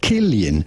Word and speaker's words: Cillian: We are looking at how to pronounce, yes, it is to be pronounced Killian, Oh, not Killian. Cillian or anything else. Rather, Killian.